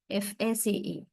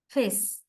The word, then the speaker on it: face: As you can just say, face, FACE. How do we produce or pronounce the word face? We say face. It's more like a diphthong rather than face. Right? We say face, just typical Sri Lankan.